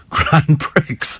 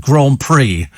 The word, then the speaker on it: Grand Prix: straight face totally straight face but it says Grand Pricks and he goes yes but it's pronounced Grand Prix and at that moment I thought the entire